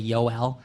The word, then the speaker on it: Joel: Joel, if that's hard for you to say, you can say Yoel. It's spelled just like Joel, but there's too many Joels already here.